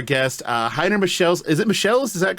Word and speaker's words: Michels: Is it Michels? Is that correct? Yeah, it's close enough. It's Michels, like it's the typically Michels, okay. German way to pronounce stuff.